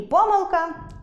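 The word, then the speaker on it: помилка: Наприклад, можна сказати і по́милка , і поми́лка; і за́вжди, і завжди́.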